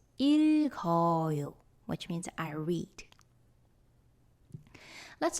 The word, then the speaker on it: 읽어요: Then this 기역 moves to the zero consonant position. And finally, you will read it as 읽어요, which means I read.